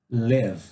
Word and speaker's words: live: Escolhemos o verbo live. Pronúncia, pessoal, não é li, é le. Bem curto, tá?